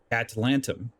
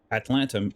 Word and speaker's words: Atlantum: how to say this atlantum so like Atlantis atlantum ingots that's not atlantum